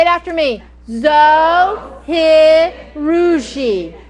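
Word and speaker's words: Zojirushi: Zoe Harushi. You would not believe the many, pronunciations of this machine. Of course, we all call it the Zoe. or the Zoji, but it is the Zohirushi.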